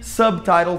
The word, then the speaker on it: subtitle: Por que subtle tem, não tem som de B, e subtitle tem som de B? Porque subtitle são duas sílabas. Sub é uma sílaba, title é outra sílaba.